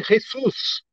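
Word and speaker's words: Jesús: não era pronúncia original em espanhol o pessoal fala de um tal de ressus mesmo que não não tinha esse som de R esse Jesus que é o j do do espanhol na língua hebraica original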